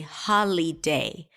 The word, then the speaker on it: holiday: syllables holiday now notice that I didn't say holiday because the middle vowel is awah sound so I reduced the vowel there to awah ha day so we have three